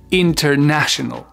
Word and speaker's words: international: Ça va être la 3e syllabe. International.